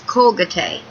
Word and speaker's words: Colgate: in Spanish side note Colgate is actually pronounced in most Spanish dialects as colate whereas goang yourself is